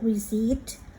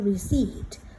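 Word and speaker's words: receipt: ข้อ 1 เลย ลูก reat reat แปล ว่า ใบ เสร็จ นะ คะ receive เรา ไม่ ออก เสียง อ่า receive นะ ไม่ ใช่ นะ มัน อ่าน ว่า reed ข้อ 2 บิน Bill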